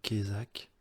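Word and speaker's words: Cayzac: Il s'appelle Guilhem Kézak. Guilhem, je suis plus sûr de comment ça s'écrit, on va dire G-U-I-L-H-E-M, Kézak, C-A-Y-Z-A-C.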